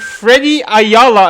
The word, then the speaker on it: Freddie Ayala: I have the top 16th, ninth place, Edward Newgate, Freddie Ayala. Am I saying that name right? Correct, you're saying it right.